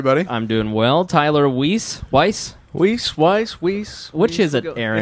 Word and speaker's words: Weiss: Tyler Weiss. Weiss. Which is it, Aaron? It's Weiss. Weiss. Tyler Weiss Weiss. is the Jewish pronunciation.